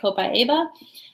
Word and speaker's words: copaiba: You're going to hear this one pronounced a lot of different ways. I choose to say copaiba, but you might hear some different pronunciations of it.